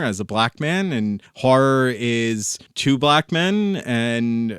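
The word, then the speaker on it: HO99O9: I actually saw open for three teeth is horror which if you're gonna try to look it up on bandcamp it is spelled h09909 the O's are letter O um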